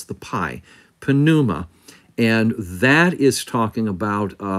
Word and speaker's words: pneuma: And yes, you do pronounce the pi, pneuma.